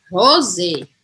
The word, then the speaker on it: rose: ter o acento aqui no final eu vou pronunciar o editor muda tudo aqui tá aqui eu vou falar rose o z rose rose tá bom já tô saindo da galera